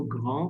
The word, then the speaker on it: grands: They are also grand. We are not pronouncing this extra S. It's a rule in French that the last letter is silent. Only C, F, L, R will be pronounced.